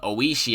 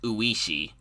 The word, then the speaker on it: Oishi: with so i just pronounced them how i saw them on screen so like i i think i pronounced me own me on and uh shion shion but like some of them i pronounced properly like keiichi i think i always pronounce properly but oishii i always pronounced uishi so yeah just a